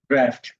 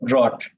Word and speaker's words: draft: Hey, how do you pronounce this? Draft. আমি এটা কি বলতাম জানো? Drought. Last year I got to know it's pronounced draft.